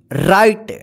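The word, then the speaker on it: write: ई कम मतलब आना राइट डब्लू आर आई टी ई राइट मतलब लिखना देखि य प डब्लू जो है ना साइलेंट रहेगा ठीक है इसका उच्चारण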